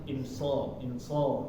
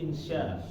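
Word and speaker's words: إن شاء: Bukan insol ya, tapi insya tetap betul.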